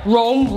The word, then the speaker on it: Rome: Rome okay that's right Rome rhymes with cone ice cream goes in